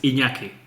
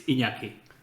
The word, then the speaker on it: Iñaki: So it's pronounced in the very same way, like gnocchi. It's Iñaki.